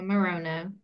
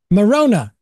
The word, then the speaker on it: Maroño: Maroño, I believe. Is that correctly pronounced, Doctor? Yeah, Maroño. Maroño.